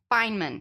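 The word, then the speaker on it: Feynman: Tua friends of tuva Fineman well say it's pronounced Fineman is it Fineman okay I did not know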